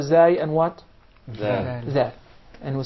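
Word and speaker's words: ذ: Zal. And we said, in the case of the letter Zal, you stick the tip of your tongue out right beneath the edges of the upper incisors.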